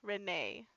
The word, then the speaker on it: Renee: let everyone know, and it is pronounced Renee.